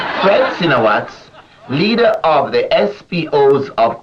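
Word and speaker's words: Fred Sinowatz: is an overseas item francino watts is so you pronounce it right fred sinawat leader of the spos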